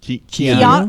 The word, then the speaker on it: Keanu: Do you want to know a fun fact about Kanu Reeves or however pronounced? How did you even say? I don't even know. No, that's not how you said Ku. Keanu.